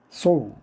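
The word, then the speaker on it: sow: 소우. 소우는 씨를 뿌리다. 심다란 뜻이죠. 시드의 뜻입니다. 발음을 사우 사우로 하면 암지란 뜻입니다.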